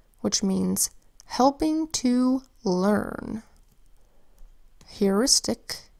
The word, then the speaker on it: heuristic: Heuristic is spelled with an H that says H, then an EUR that says EUR, an I that says I, an S that says S, a T that says T, an I that says I, and a C that says K. Heuristic.